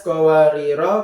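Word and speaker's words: قواريرا: Tapi jika dibaca terus atau wasal maka harus dibaca pendek. Contohnya seperti ini. alaihim bianiyatim min fidatin wa akwabinat qwarir qawarir min fiddin qoddaruha taqdir kanat qwariro qowariro langsung karena dibaca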